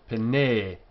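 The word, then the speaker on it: פְּנֵי: This is a long e sound, pene.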